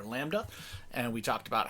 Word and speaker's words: lambda: of those work as lambdas which is spelled L a and B okay D a lambda except to be a silent like a little mary had a little lamb' de yeah and that's the